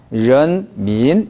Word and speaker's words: 人民: 그런데 이성, 이성이 나오면 두 번째 이성이 더 올라간다고 했어요. 저를 보세요. 인. 민. 이렇게 올라가요. 인. 민. 이게 아니라 人民 이렇게 올라갑니다.